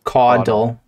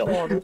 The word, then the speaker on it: caudal: In that's how we say caudal. It. You say caudal? Caudal. Yeah, caudal. Yeah. Caudal. Like caw. Waddle. Like a bird. Caudal. Okay, it's not a Boston accent. Caudal.